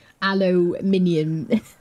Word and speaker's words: aluminium: Rhymes with condominium, yeah. Aluminium.